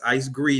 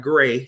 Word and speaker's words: Icegre: My name is pronounced with a long E. That's Icegre, not Gray.